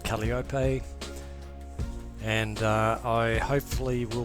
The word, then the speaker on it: Kalliope: c so here we are my rg15 called caliopay and uh i hopefully will be taking many